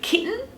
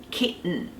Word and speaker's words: kitten: end of the word kitten the way to pronounce this is to use a silent T in the middle so key use that